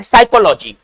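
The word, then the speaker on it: psychology: तो आप सही है पीएस वाई से है ना यह स्टार्ट होता है साइकोलॉजी पढ़ रहे साइकोलॉजी लेकिन लिख रहे पी से है ना चलिए आइएगा 40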